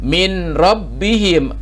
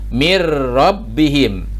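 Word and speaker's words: مِن رَبِّهِم: dibacanya jadi malam ditulisnya Min rabbihim disini no sukun menghadapi huruf ro maka ditulisnya Min rabbihim dibacanya mirrobbihim sinun ini ditiadakan tidak dibaca ya padahal tulisannya ada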